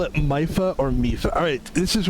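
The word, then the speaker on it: Mipha: Wait, in Breath of the Wild, but you said Impa, and now you're saying Mipa. What is it? My bad. Let me clear that up. Mifa is pronounced Mifa.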